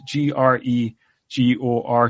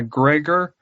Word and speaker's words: Gregor: o r um it turns out it is g r e g o r so is a Gregor not a Gregor but um and he's a